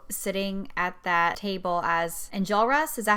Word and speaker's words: Enjolras: The first time I saw Joe sitting at that table as Enjolras, is that how you say it?